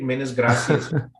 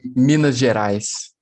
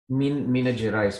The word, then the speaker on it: Minas Gerais: How do you pronounce the name state? Minas Gracias. It's Minas Gerais. Minas Gerais.